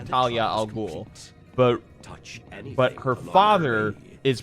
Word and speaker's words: Talia al Ghul: No, Talia's name is pronounced Talia al Ghul, but her father is pronounced Ra's al Ghul.